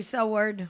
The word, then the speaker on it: Seward: T'as Seward, je sais pas comment le prononcer. C'est Seward.